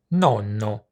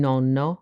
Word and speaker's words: nonno: Many English-speaking people with Italian ancestry use the word nonno to describe their grandpa, although it tends to be pronounced with one “n” instead of two.